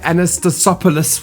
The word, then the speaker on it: Anastasopoulos: I've got Julia Anastasopoulos, which I'm sure I said wrong.